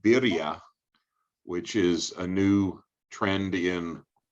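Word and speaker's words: birria: you well joey introduced us to something called birya which is a new trendian mexican taco uh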